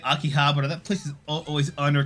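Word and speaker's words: 秋葉原: No, is it pronounced Abibakura? No, it's Aki Habara. I remember it's Aki, fall, ha, flower, and bara.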